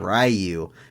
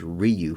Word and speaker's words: Ryu: bit # PP that they say rayu and taught you know a whole generation of kids how to say this name wrong it is Ryu folks but we're getting off